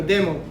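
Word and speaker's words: でも: And then but, demo, like a demo video, demo. Same spelling, D-E-M-O. We pronounce it demo.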